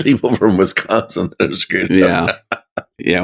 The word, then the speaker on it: Wisconsin: I pronounced it Wisconsin.